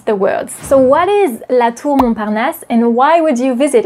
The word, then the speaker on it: La Tour Montparnasse: La Tour Montparnasse. Can you repeat it? La Tour Montparnasse. La Tour Montparnasse.